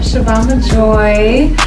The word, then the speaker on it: Shavon Majoi: first of all in yourself your name is Shan Joy am I pronouncing that correct yes so I am shoban Joy um I am an actress singer songwriter um